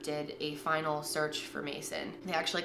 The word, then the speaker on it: Macin: for you to memorize this face this is Mason Smith it's spelled MA CIN he is six feet four